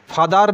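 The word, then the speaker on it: four: আমাদের মনে রাখতে হবে যে এখানে আর এর উচ্চারণ আহ। R, R, R. Not left. R, R, R. কবলার নয় কবলা, ফাদার নয় ফাদা, মাদার নয় মাদা। অনেক সময় বলি না ফোর, ফাইভ, ফোর নয় ফো।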